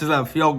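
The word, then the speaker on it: Fehoko: And then you have, now, maybe I was saying Suafilo because I couldn't even pronounce his first name. Simi, or I don't know. Fiocco. That's Fiocco.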